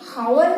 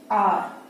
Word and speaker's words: hour: हम हावर नहीं पढ़ेंगे, ये H है, इसका मतलब ये हावर नहीं, हावर इसे हम नहीं पढ़ेंगे बल्कि R।